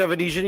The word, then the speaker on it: Avanesyan: say it right say it again uh David evanesian you got it perfect okay because they've been